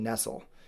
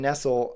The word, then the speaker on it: Nestle: her name is Marianne Nestle. She's awesome. Her name is spelled like Nestle, but not said the same, no relation whatsoever. Marianne Nestle has authored, I think, like 17 books at this point.